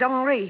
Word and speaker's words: Henri: Henry, it won't do.